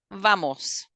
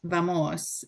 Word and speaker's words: vamos: We go, vamos.